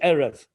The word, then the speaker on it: erev: for evening is erev the word for mourning is boker like boko tov now but but if you don't know how to pronounce it the word erev could also be pronounced which means wild animals it could also be arab which means sweetness so the same three letters can have three different meanings when booker could also mean cattle